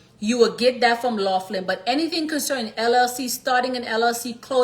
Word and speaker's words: Laughlin: Let me spell that out for y'all. Okay. L A U G H L I N. Okay. Laughlin and Associates.